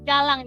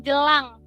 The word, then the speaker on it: jalang: Jadi jalang harus jelas jalang, jangan jelang.